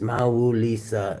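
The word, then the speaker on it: Mawu-Lisa: Mahu Lisa, pronounced Mau Lisa, is supreme being with origins in the ancient West African kingdom of the homie and is neither male nor female.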